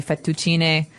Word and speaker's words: fettuccine: fettuccine Alfredo is a very common American Italian dish, but Right. in Italian it'd be fettuccine, so you might hear it differently.